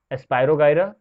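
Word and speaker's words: Spirogyra: There are some examples of algae, जिसमें से हैं स्पाइरोगाइरा, क्लैमाइडोमोनस, ध्यान से सुनना pronunciation, स्पाइरोगाइरा, Chlamydomonas, Fucus and laminaria.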